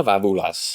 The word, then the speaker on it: Vavoula: Please allow me to introduce to you Vavoulas. Hey, well done. I've had some friends for many years that can't pronounce that.